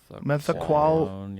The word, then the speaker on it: methaqualone: Methaqualone? Methaqualone, yeah.